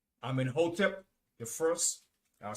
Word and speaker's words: Amenhotep: It's spelled A-M-E-N-H-O-T-E-P.